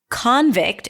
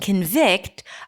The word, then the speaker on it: convict: if you don't then convict and convict are going to sound exactly the same. Convict. Convict. Right? So this is how you distinguish between them because in convict the stress is on the first syllable and the second syllable is reduced. Awah. Convict versus convict. The first syllable is reduced. Awah. Thewah takes a step back to allow the primary stress vict to shine.